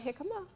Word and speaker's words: jicama: Did I give anybody a readout on jicama? Yes. Okay, who wants to read the readout on jicama? I have it. Go ahead. It's pronounced jicama? Jicama, yeah, even though it spells like a J, though.